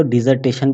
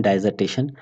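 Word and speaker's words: dissertation: The word डाइजर्टेशन, कुछ लोग इसको डिजर्टेशन भी कहते हैं, अपना प्रोनाउंसिएशन डाइजर्टेशन, तो डाइजर्टेशन या डिजर्टेशन।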